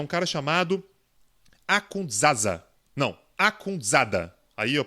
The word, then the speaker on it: Akhundzada: Não, Akhundzada. Aí a pronúncia fica por minha conta.